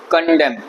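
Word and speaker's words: condemn: करके नोट कर सकते अब आया एन एन क्या कहता है वो भी साइलेंट है य पर कंडम मतलब हम इस बात को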